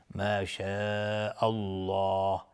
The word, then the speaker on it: ما شاء الله: لفظ جلاله اینجا تفخیم هست چون قبلش فتحه اومده. میگیم ما شاء الله، نمیگیم ما شاء الله. نه، اگر دهان رو اینطوری باز بکنیم ترقیق میشه و اشتباه تلفظ میشه لفظ جلاله. پس باید دهان جمع بشه مثل قنچه ما شاء الله الله و زبان به طرف سقف دهان بالا میره.